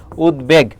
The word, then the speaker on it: উদ্বেগ: তাহলে উদ্বেগ যখন আমরা লিখবো উদ্বেগ তখন এখানে খেয়াল করো ব ফলাটা কোথায় আছে? মাঝে আছে। যদি মাঝে থাকে তখন তার উচ্চারণটা বহাল থাকবে। শুরুতে আর শেষে ম ফল আর ব ফলার ক্ষেত্রে যদি থাকে তখন তার উচ্চারণটা হবে না। তাহলে এখানে দেখো মাঝে রয়েছে এজন্য উচ্চারণটা বহাল থাকবে। উদ। এখানে থেমেছে চিহ্ন। আর বাকি হবে? বেগ হবে। উদ্বেগ।